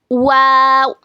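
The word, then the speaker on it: و: देखिए दोनों होठों को गोल करने से और ना मिलाने से वादा होता है। इट is pronounced by making your lips round. Both the lips do not meet.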